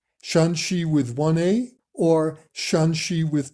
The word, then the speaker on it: 山西: There is a very subtle difference in the tone of the first syllable. Here 山 has a high level tone. 山西 Here 陕 has a lower, falling tone.